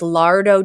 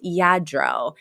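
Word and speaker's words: Lladró: like you know I do have all this Lardo China that needs dusting and Sylvia's like it's y it's pronounced yadro frea goes you can pronounce it I can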